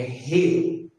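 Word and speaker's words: ר: Então não é re, é re, é mais aspirar, é sobrando. Re, re, não é re, tá bom? Esse é o som da letra R. O nome dela é re, o símbolo dela é assim. E o som que ela faz é som de R, tá bom?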